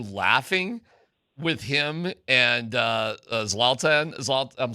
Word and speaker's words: Zlatan: Are you laughing with him and uh Zlatan? I'm saying his wrong name wrong. Zaltan.